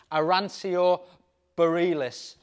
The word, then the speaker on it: Arancio Borealis: has such a presence arancio Bareilles is the pronunciation the Italian name for it it's a pearl capsule